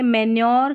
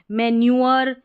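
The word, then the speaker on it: manure: फिर से देख ले मेन्योर, क्योर, इसको मेन्यूअर, क्यूअर ऐसे पढ़ेंगे तो सही उच्चारण नहीं होगा।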